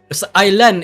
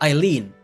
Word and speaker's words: Aileen: No, Aileen is how you pronounce her name. It's not Eileen. It's Aileen. It's Aileen, sorry.